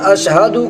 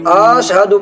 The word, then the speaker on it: اشہدو: کھینچ کر پڑھنا اور اشہدو کو آشہدو پڑھنا وغیرہ۔ اس طرح کی